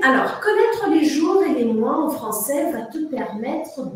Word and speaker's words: les mois: O com I, em francês, produz o som moi.